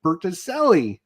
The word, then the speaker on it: Bertucelli: We will affectionately love him as Butterjelly, but it's actually Mike Bertucelli. And yes, I think I pronounced that correctly. Wow, you actually did it.